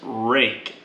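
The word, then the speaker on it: Ruike: man all right now while this says r-u-i-k-e it is however unlikely it is it is pronounced rake i don't know why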